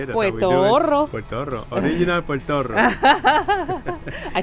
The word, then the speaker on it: Puertorro: Puertorro. That's a lot of R's there, but I bet you. Let's see how many of you can roll the R's like I do.